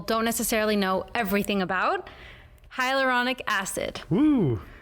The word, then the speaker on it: hyaluronic: one that people don't necessarily know everything about hyaluronic acid hmm said it right yes yeah so